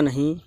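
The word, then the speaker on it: know: क्या होता है जानना इसको नो पढ़ते हैं के साइलेंट रहता है यहां पर और नो से शुरू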